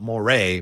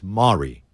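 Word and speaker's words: Morey: Maury yeah Mari it's actually mare it's not Moray but it's not Mori it's Mari anyway Daryl Mari told you that that's the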